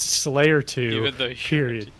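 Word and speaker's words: 5L4Y3R2: say yes his name is 5 L4Y3R2 parenthetical pronounced Slayer 2.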